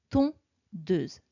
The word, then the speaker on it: tondeuse: Attention pour le mot tondeuse. Quand je tape les syllabes orales, je dis tondeuse. Ça me fait donc 2 syllabes orales. Mais quand j'écris ton, de, ze. Il y a 3 syllabes écrites.